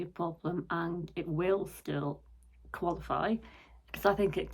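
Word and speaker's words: Diljá: I know now that her name is pronounced still yeah and not do we are and I've always said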